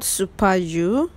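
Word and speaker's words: Super U: supermarket is so beautiful it's called superu but they pronounce it super because it is french obviously you guys just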